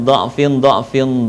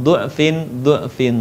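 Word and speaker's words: ضعف: Jadi perhatikan dha'fin, dha'fa dalam surat Ar-Rum 54 boleh dibaca dengan du'fin, du'fa dengan satu syarat konsisten. Kalau membacanya dengan dha' berharokat fathah maka semua dibaca fathah, dan ketika membacanya dengan harokat dhammah maka semuanya konsisten dibaca dengan dhammah.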